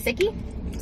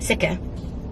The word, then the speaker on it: Sikh: Sikhi? Sikh? S-I... K-H. Yep. Sikha.